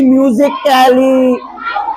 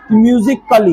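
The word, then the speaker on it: musically: CAT कैट होता है, लेकिन तो यहाँ नहीं पढ़ेंगे इसकी म्यूजिक कैली, ऐसे नहीं, लेकिन फिजिकली ऐसे आई नहीं आएगा, यह साइलेंट रहेगा। म्यूजिकली क्या पढ़ेंगे?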